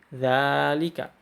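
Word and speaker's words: ذلك: Hai inhart untukku bosannya Zalika itu diucapkannya seperti Zalika Begitu juga dengan harga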